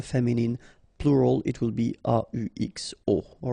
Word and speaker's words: aux: les will become au, aux, but then remember that phonetically it's o.